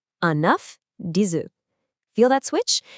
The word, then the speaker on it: un œuf: When it's singular, like enough or us, you say that final consonant. When it's plural, that consonant goes silent.